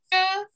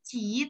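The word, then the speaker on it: 吃: Yang pertama itu ada ce yang berarti makan. Saya akan jelaskan dulu nanti kita baru bareng-bareng baca ya. Ce makan. Ce bukan ci tapi ce, ingat CHI dibacanya ce makan.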